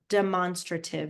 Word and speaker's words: demonstrative: heard about demonstrative pronouns sounds like the word monster in there but has no relation to monster just side note demonstra demonstrative is how you say that and it points to